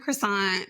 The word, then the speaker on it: croissant: Almond croissant, that's how Americans say it, but I just like saying it like French people say it.